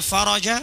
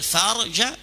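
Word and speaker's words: الفرج: Bunyi hadis wa annal faraja ma'al karbi, yang artinya dan kelapangan itu bersama kesulitan. Tapi kalau dia membacanya wa annal farja, bisa ditembak pakai AK-47 sama orang Yaman dia. Bisa dilempar sama orang Arab.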